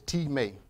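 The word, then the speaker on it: τιμή: translated into honor is teammate is spelled t IM e not pronounced like our english word of time but it's pronounced as teammate that's t ee -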